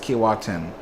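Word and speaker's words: Keewatin: Top Impressive Line says, Alex, the Kiwatin is pronounced Kiwatin.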